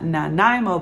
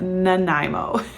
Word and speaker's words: Nanaimo: Okay, so if you are trying the Nanaimo bar, that is how you pronounce it. Nanaimo.